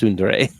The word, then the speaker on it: tsundere: yeah I believe it you're right Scott it's pronounced tsundere um but we had our we had